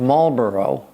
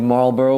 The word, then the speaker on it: Marlborough: the first Duke of Marlborough, and by the way, there's more silent letters in Marlborough. There's a GH at the end that you never pronounce, but that's another story.